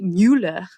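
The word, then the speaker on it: Müller: Well, yeah, it looks like Mueller, but the U does have an umlaut. So it'd be Mueller.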